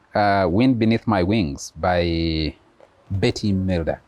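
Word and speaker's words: Bette: Why don't we play Wind Beneath My Wings by Betty Milder. Betty, actually. Pronounce it Betty.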